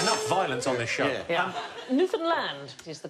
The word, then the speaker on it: Newfoundland: newfoundland hey enough violence on this show newfoundland is the correct pronunciation and in 1876 a man was killed